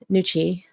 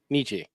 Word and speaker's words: Nietzsche: And that's a Friedrich Nietzsche. Did I say it right? Nietzsche. Nietzsche.